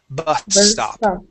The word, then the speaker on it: bus stop: She is not pronouncing 2 S's. She's pronouncing 1 S. Bus stop. Okay, now 2 S's would sound like this. Bus stop. Okay, we don't say that. We combine them.